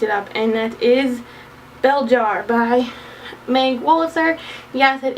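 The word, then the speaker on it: Belzhar: friend Brian picked it up, and that is Beljar by Meg Wolitzer. Yes, it is spelled Belzar, but it's pronounced Beljar.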